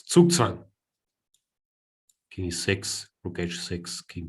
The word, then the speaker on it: Zugzwang: Look at me mispronouncing Zugzwang. Trying to fit in. It's Zugzwang.